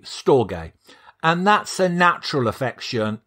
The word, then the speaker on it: storge: to pronounce and there's it's spelt storge storage to me that sounds like a steam pudding but that's probably a whole new episode uh it's storge it's it it's spelt s-t-o-r-g-e storge and that's a natural